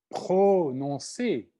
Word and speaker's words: prononcé: Il y a des consonnes très fortes qui demandent un R très fort, prononcé, par exemple. Prononcé. Hein? Le R vient après le P, alors il faut qu'il soit très fortement prononcé.